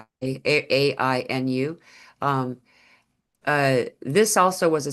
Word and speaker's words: Ainu: In fact, it actually brought in the Ainu people is how they pronounce it, but we've the Anu, like it's spelled like the Anu that was a big conversation point with the addition of an I after the A.